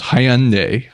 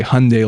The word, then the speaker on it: Hyundai: Hyundai unpronounce the Y so it was Hyundai like Hyundai as opposed to the old ads that used to be featured in the US that would say Hyundai like Sunday oh okay so I